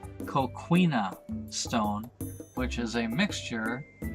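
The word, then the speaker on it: coquina: these forts were built of castello stone or I'm sorry I mispronounced a co queena stone which is a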